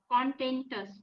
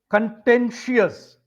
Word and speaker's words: contentious: i o u s contentus okay content means no the the pronunciation is contentious in I us curious okay contentious MH so